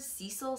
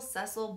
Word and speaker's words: Cecil: i don't know also i heard cecil cecil both pronounce different ways so i don't really think there is a way to pronounce it i have people that i know that live in los angeles they pronounce it both ways people potato potato tomato